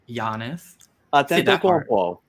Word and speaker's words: Antetokounmpo: Giannis Antetokounmpo.